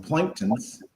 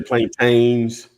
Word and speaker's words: plantain: Shanita said she just fried some planktons. Is that how you pronounce that? Plankton? Oh, the bananas. Some people say plantains.